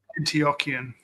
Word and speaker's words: Antiochian: How to pronounce that?" Antio Antiochian.